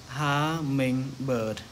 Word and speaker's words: hummingbird: Như vậy cái từ này chúng ta sẽ đọc là hummingbird.